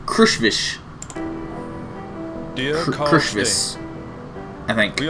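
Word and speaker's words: Krushvice: right here how do you guys think that's pronounced because I look at it and I read crush vice which i think sounds kind of cool but it's actually pronounced crush fish dear precious I think we are happy to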